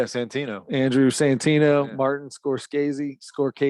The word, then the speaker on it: Scorsese: How do you say that guy's last name? Scorsese. Scorsese? Is that how you say it? Pretty sure. There's not two cuz in there. Scorsese. That's not Skazy. It's just Martin Scorsese.